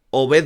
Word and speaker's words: Obed: conocer al bueno de Obet Vargas, porque según él se pronuncia así, ¿no? Obet Vargas.